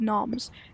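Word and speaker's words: knoms: By the way, inside of the JVR universe, gnomes are called noms. It's spelled k n o m s, but with a silent a, so it's noms.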